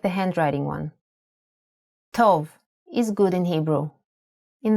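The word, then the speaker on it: טוב: Tov is good in Hebrew, in the masculine form.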